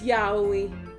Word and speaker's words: yaoi: Or yaoi, I never know how to pronounce that. It's yaoi.